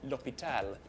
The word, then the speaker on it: l'hôpital: It's silent when you speak French, so that we say l'hôpital, not los.